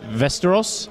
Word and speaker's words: Västerås: And Stefan, he is from Västerås, but you should probably pronounce it in English, which makes it Västerås.